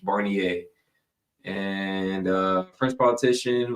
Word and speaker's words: Barnier: minister for reference Mike Mel barer Mel Barner oh God I'm butchering his name here hold on let me make sure I'm saying it right Mel Barner barer barnier barnier I'm s I'm sure you know if it's French barnier and uh French politician